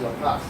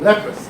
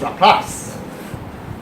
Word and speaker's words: Laplace: So it's pronounced Laplace. I don't know French, but I know how to pronounce this word. Okay, Laplace. It's not Laplace. Okay, it's Laplace.